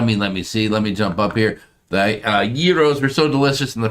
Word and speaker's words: gyro: Yes, gyro, the G is silent.